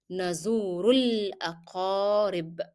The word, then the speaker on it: نزور الأقارب: Remember that you are going to drop the pronunciation of Alif. So you go from Dhamma to Lam. Nazurul, Nazurul Aqarib. Remember that Qaf is a hard sound, so you need to make it in a hard way.